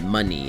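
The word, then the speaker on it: Munny: It's M-U-N-N-Y, money. It's the currency from Kingdom Hearts. That's the symbol, and that's also why it's spelled that way.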